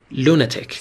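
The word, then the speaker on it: lunatic: یه جمله باهاش بسازی لونتک تلفظو دقت کنید استرس روی حجای اول لونتکون اسمه یعنی دیوانه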